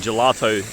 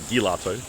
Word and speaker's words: gelato: but then I guess the G and gelato really sounds more like a jade than a G right it's not like gilato so it makes sense